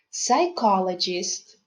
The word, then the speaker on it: psychologist: who helped him recover have you noticed that the letter p is silent let's learn to pronounce some other words that have silent p so listen and repeat psychologist cupboard raspberry receipt well